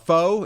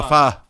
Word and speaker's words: pho: Sarah said it's like F-U without the CK, how you pronounce pho. Yeah. F-U without the CK? It's just Oh, pho.